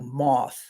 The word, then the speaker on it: maith: Now, if you talk to somebody that speaks Gaelic, they'll say, well, what are you talking about? They pronounce it something like moth. Okay. So technically when I say Maith, it's incorrect, but I'm not trying